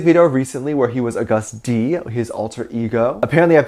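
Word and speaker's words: Agust D: He had a music video recently where he was August D, his alter ego. Apparently I've been saying it wrong. It's not August D, it's August D.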